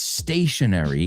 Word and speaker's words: stationary: Se pronuncian exactamente igual, and that is like an exercise bike, right? It's stationary.